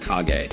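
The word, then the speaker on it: Kage: Brothers Duck Hunt and Legend of Kag, which I used to think was Legend of Cage, by the way. That's how I used to pronounce it.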